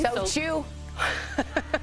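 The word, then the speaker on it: SOTU: So chew. That's how you say it, so chew.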